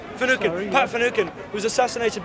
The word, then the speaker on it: Finucane: Finucane? Finucane.